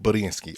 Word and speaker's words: Budiansky: Bob Budiansky.